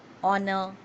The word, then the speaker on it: honor: with a h but where h is silent. That means where there is no sound of h is pronounced, like an honor, an hour, an honest man.